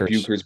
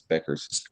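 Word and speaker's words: Bueckers: It's spelled like Bukers, but I think it's Beckers. She's She's Caitlyn Clarkesque in the fact that I think she's going to make it exciting for those fans.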